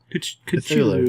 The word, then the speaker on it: Cthulhu: It's like trying to pronounce Cthulhu correctly. Cthulhu. Culu. Yeah, I didn't know there was not a consensus about how to say Cthulhu.